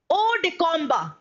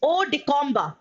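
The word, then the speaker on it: hors de combat: All right, now next देख सकते हैं students, it's odicomba. All right, इसमें H का pronunciation हम एकदम डायरेक्टली नहीं बोलते हैं, it's odicomba. Odicomba.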